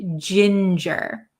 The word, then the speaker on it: ginger: is Ginger Ginger Ginger it's say soft G sound Ginger okay very good let's